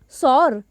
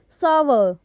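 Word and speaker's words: sour: बोलना चाहेंगे उसको, तो हम मोस्टली इस वर्ड को अक्सर लोग क्या बोलते हैं, सॉर। सॉर यही तो बोलते हैं ना हम, what we have been saying, सॉर। लेकिन इस वर्ड का जो सही उच्चारण है वो क्या होगा, हाउ टू करेक्टली से इट, सॉवर। सॉवर। वैसे इसमें W का स्पेलिंग नहीं है, लेकिन जब इसको हम प्रोनाउंस करेंगे तो वो होगा सॉवर।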